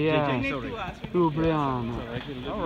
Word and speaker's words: Ljubljana: And, Ljubljana. I don't know if they pronounce the L. Actually, Ljubljana. Oh yeah, that's right. The J. That's right. No, the J. The J. Yeah. The J, yeah. Sorry. Ljubljana.